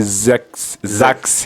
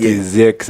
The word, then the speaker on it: Zeax: N'erinnya liri Zax, not Zex.